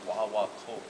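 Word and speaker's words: guaguancó: One of the first basic rhythms, if you ever get into playing conga drums, there's a basic rhythm called the wah-wah-kul. And it's spelled G-U-G-A-U-A-C-O.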